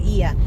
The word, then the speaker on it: Oia: guys it's spelled as it's spelled as oia but with the silent o so they call it so ia is on the north